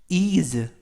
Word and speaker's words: ease: 이번 표현은 is 라고 발음하시면 되겠고요. 이때 S 발음이 스가 아니라 z 발음이 납니다.